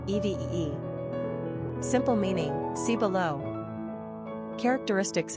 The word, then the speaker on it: Evie: Pronunciation, EEV, EVEE.